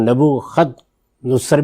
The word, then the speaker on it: Nebuchadnezzar: Nebuchadnezzar attacked. Followers of another Deen? Who is called Nebukhad-nussar. Both the pronunciations are correct.